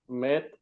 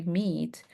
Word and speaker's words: meet: Don't confuse that with when we have the double e because when we have the double e we are not pronouncing met. We're going to say meet like pleasure to meet you.